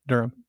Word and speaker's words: Durham: Durham. Durham. Okay. I was like, do they do they pronounce the age? Because I don't. No.